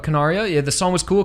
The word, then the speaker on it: Canaria: So as well as the ending theme was Rendezvous by Canaria. I pronounced that wrong, but Canaria.